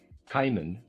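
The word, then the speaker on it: Cimon: Kimman, I'm going to pronounce that. Kimman, C I M O N, a well-known historical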